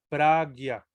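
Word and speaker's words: prajñā: Entonces, esta palabra en sí se pronuncia pragya.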